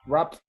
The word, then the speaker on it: wrapped: It's wrapped. Okay. Mm-hmm. Wrap, wrapped. Wrapped, That the ending changes to a T, wrapped.